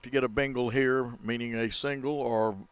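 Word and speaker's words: bingle: like to get a Bengal here meaning a single or a hit really I mean you don't spell that like Bengal tiger either it's b-i-n-g-l-e sometimes used by now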